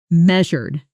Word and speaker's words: measured: Pronunciation me a shur stress on the first syllable and that middle sound is like jur similar to composure. Practice with measured in a sentence.